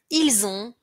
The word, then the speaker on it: ils ont: Attention à bien prononcer ils ont, elles ont, auxiliaire avoir, liaison z, à ne pas confondre avec ils sont, elles sont, où on entend le son s.